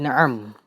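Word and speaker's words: نعم: dalam bahasa Arab dia na'am. Na'am tu ejaan untuk bahasa Melayu lah. Ejaan Rumi, bahasa Melayu pula Rumi. Ejaan na'am adalah nun baris atas, ain baris atas, mim baris mati.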